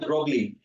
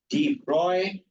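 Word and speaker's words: Broglie: also behave like waves it's not brly it's Deep Roy actual pronunciation is Deep Roy wavelength okay so now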